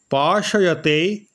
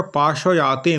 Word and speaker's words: পাশয়তে: স্থানাঙ্গ সূত্রের টিকায় বলা হয়েছে পাশয়তে গণ্ডয়তি আত্মান পাতয়তি চাত্মনঃ আনন্দরসং শোষয়তে ক্ষপয়তি তি পাপম। এটা পাশয়াতে নয়, পাশয়তে। সমস্যা হচ্ছে ট্রান্সলেশনটা আমি নিজে করি না, অন্য কাউকে দিয়ে করাই।